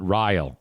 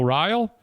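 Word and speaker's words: Riehl: in Michigan called Joshua I believe you pronounce it rile r-i-e-h-l and um they talk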